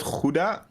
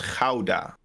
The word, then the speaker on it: Gouda: How do you pronounce it in Dutch? It's not Gouda. It's Gouda. Gouda. You have an ow.